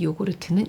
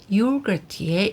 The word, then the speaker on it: yogurt: 시작해 볼까요 숟가락으로 떠먹는 요구르트는 영어로 요구르트라는 단어 말했죠 말랑 김에 한번 알아볼까요 요구르트와이 요구르트 넌 어떻게 다른 거니 영어 발음 요거트의 일본식 발음이 바로 요구르트라고 합니다 야쿠르트는 이렇게 상표로 많이